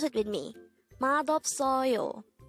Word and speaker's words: 맛없어요: syllable is o and fourth syllable is you pronounce it with me madop soyo mad of soyo the term madopsoro used to say not tasty